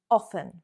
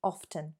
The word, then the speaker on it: often: The most common pronunciation for this word is often, often. I often eat chocolate. There we are omitting, leaving out the T sound, often. However, I like pronouncing my T's. That's just how I speak.